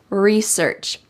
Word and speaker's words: research: big project research research notice that this is the American English pronunciation we emphasize re and don't emphasize search research I never buy something